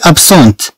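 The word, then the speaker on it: absente: الي ابسون اذا ما غتنطقش لنا الطي، ولكن ملي تنضيفو أه مع ال مع هي طبعا تنطق الطي.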